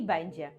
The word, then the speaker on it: będzie: Якщо ти починаєш вивчати польську мову, то ти плутаєш слова бенде і бендже.